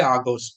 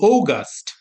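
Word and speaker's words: August: আচ্ছা টান দেয় হ্যাঁ জুলাই এটাকে আমরা বলি আগস্ট হ্যাঁ না আগস্ট না এটা হচ্ছে ওগাস্ট ওগাস্ট ও গাস্ট হ্যাঁ ও গাস্ট এরকম উচ্চারণটা হচ্ছে ওগাস্ট হ্যাঁ ও গাস্ট অগাস্ট অগাস্ট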